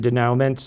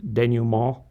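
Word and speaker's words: dénouement: You can pronounce it denouement. I believe the French is denouement.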